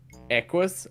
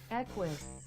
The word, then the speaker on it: Equus: Equus. You're the Stop! only one in the world who calls it Equus. equus. Whatever. Equus. I bet It's someone else. Because the Q is a CK in pronunciation.